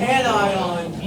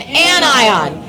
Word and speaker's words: anion: And this word right here, annion. Say it. Annion. Anion. Say it again. Anion. You know how you don't pronounce this word? If you say anion, you sound like a Stop. Say anion. This is a compound word.